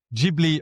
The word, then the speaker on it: Ghibli: And more specifically tonight, we'll talk about the Studio Ghibli, or you were telling us Ghibli, there is a bit of a story behind the name, isn't there?